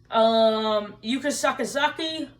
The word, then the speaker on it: Yuka Sakazaki: Yuka Sakazaki. No, that's not me butchering her name and trying to be sexist. That's how you pronounce her name.